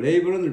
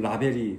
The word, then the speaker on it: label: and 그리고 label은 라벨이라고 하는 거죠. 라벨. 그죠? 영어에서는 라벨이 없어요. 발음은 label.